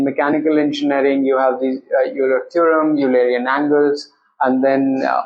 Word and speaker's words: Euler: Because in the Indian market, it might be a little difficult to pronounce. Yeah. Like Euler, but the actual pronunciation is Euler. Euler.